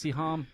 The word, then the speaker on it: Siham: Well, Goddess Siham, I said that right? You did.